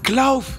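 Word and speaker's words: Clough: Ah, Klauf! C'est L-O-U-G-H. Ouais, Donc, Klauf.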